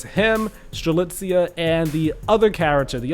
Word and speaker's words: Strelitzia: you know, the the real official way to pronounce her name. It is Strelitzia. We don't have to, you know, butcher her name anymore. It's him, Strelitzia, and the other character, the other male character